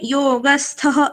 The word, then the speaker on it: योगस्थः: जब विसर्ग श्लोक बोलते समय बीच में जब विसर्ग आता है तो हमें क्या करना है? वो विसर्ग का उच्चारण करते समय आगे के अक्षर जैसा ध्वनि निकालना है। जैसे योगस्थ कुरु कर्माणि, इस तरह से। तो इस विसर्ग का उच्चारण करते समय आगे का जो अक्षर है उसका भी थोड़ा सा उच्चारण करना होता है।